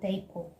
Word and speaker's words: depot: Number three, you have depot. Depot. The T is not heard in this word, so you don't say depot or whatever.